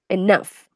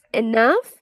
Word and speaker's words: enough: laptop isn't and now enough we like with an F you pronounce it like you have an F at the end yes no not not